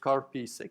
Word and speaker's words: Karpisek: That's the way you pronounce it, just Karpisek. You don't have to make really weird constructions about it.